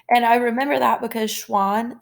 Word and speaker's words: Schwann: looked like animals theodore schwann he actually said that all animals are made up of cells and i remember that because schwann sounds like swan which is an animal